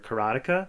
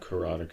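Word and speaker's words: Karateka: was the making of katea or karatica karatica it's pronounced both ways by the developers um and you know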